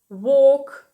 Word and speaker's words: walk: «To talk», «talk» – розмовляти, буквосполучення A-L-K читається як ok. Talk, walk, to feel – відчувати.